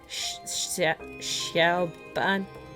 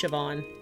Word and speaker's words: Siobhan: Xiaoban? Siobhan. It's pronounced Siobhan.